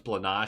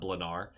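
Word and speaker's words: Blanár: I've been told it's Blan, not Blar, but he is that I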